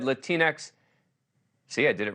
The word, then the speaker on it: Latinx: I'll admit that when I recently said the word Latinx out loud for the first time in my life, I pronounced it Latinx and was scolded for my ignorance.